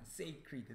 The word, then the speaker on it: sacred: 그러니까 scare이라는 단어 대신요 고2에서는 sacred가 어휘 선택지로 나왔고요 기억해 주십시오 신성한 발음이 달라요 그러니까 sacred와 scared의 차이예요 헷갈리잖아 그치?